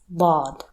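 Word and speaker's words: ضاد: When you pronounce a D in English, the tip of your tongue touches your front teeth. Now, move the tip of your tongue a little bit back and pronounce D again. That is Dad.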